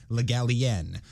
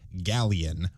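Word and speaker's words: Le Gallienne: told the literary digest the stress was on the last syllable legalien as a rule i hear it pronounced as if it were spelled galleon which of course is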